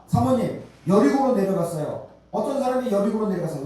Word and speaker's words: 여리고: 여리고 여리고는 예리 예리 원래는 발음은 예리고 아고 돼 있습니다 예리고 예리 예 예리 호 예 리호 예 예리 호로 되 있는데 이것이 바로 여리고는